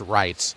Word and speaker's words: Reitz: The Zamboni over third base, but it's pronounced Wrights, a long I with that EI sound there in the middle.